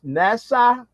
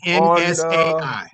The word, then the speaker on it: NSAI: Um, I'm trying to make sure I've got the correct pronunciation. Is that NASA Energy? It's actually NSAI, the name of your firm.